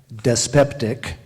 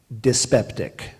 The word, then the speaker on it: dyspeptic: Greek alternate pronunciations yes I will give the primary pronunciation and then the alternate primary dyspeptic alternate dyspeptic use it in a sentence